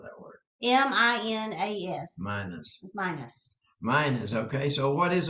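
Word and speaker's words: minas: How do you spell that word? M-I-N-A-S. Minus.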